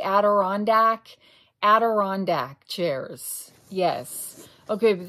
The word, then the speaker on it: Adirondack: Am I pronouncing that correctly? Adirondack?